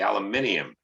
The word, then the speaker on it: aluminium: We say aluminum, but everybody else says aluminium because there's an I there and it should be said, right?